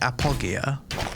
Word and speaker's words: Apogea: must be never mind it's pronounced Appo Gia apogia apogia okay tuck PK this